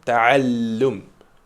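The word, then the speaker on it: تعلّم: Tu as vu comment je le prononce avec le lem là ? Taallum. J'insiste dessus. C'est voulu. Il faut aussi que tu le fasses.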